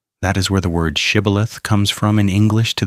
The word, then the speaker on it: shibboleth: The Ephraimites couldn't make the ish sound. They'd say Sibboleth, and every man who said it wrong was killed on the spot at the river's edge.